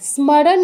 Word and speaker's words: স্মরণ: উচ্চারণটা কিন্তু করি না কিন্তু সংস্কৃতে করতে হবে স্মরণ বলতে হবে ওই নিয়ম কিন্তু একটাই ঘুরে ফিরে যেই যেই অক্ষরগুলো যুক্ত আছে সেগুলো সব উচ্চারণ করতে হবে কোনটা বাদ দেয়া যাবে না তো স্মরণ দন্তস মতো শুধু স উচ্চারণ করা যাবে না স্মর এরপর রা পূর্ণ উচ্চারণ করতে হবে কারণ ন এর নিচে কোন হসন্ত নেই তাহলে স্মরণ নয় স্মরণা স্মরণা তারপর স্মৃতি স্মৃতি তারপর